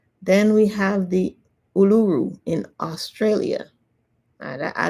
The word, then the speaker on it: Uluru: we have the Uluru in Australia.